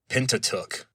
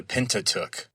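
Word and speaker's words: Pentateuch: And so in modern English pronunciation we just say pentatuk. The pentatuk.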